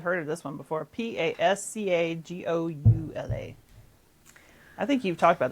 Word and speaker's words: Pascagoula: I think we've heard of this one before, Pascagoula. I think you've talked about this one before. I'm going to say Pascagoula. Technically, yes, you have it correct. But down here, we say Pascagoula.